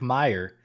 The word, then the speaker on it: Meyer: But he did confirm it's just Meyer, like Meyr.